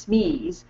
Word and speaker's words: SME: people like to use SM e s which is pronounced Smee to describe a subject